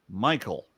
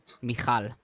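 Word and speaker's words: Michal: was mirb and the name of the younger Michael mikal yeah yeah pronouncing an e as is like I mean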